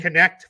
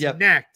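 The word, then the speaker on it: Knecht: jersey number four so Connect Four and yes that is how you say it I looks like it's neck but he pronounces it connect and they're gonna have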